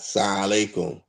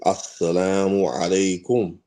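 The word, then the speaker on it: السلام عليكم: say assalamu alaikum and say it correctly, not sa alaikum or assalamu alaikum, not like that, not saying it like that, saying it correctly, assalamu alaikum.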